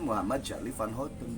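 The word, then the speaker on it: Muhammad Charly van Houten: Tapi kan memang namanya diucapkan Muhammad Charlie Van Houten, bukan Casmali Farli.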